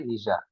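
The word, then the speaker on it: Nietzsche: line was given by निजा ना भी बहुत अद्भुत ना प्रोनाउंस निजा किसी लोग नीश बोली पढ़ा निजा निजा had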